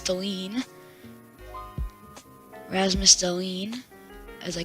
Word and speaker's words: Dahlin: I made the mistake again of calling him Dallin. It's Dahlin.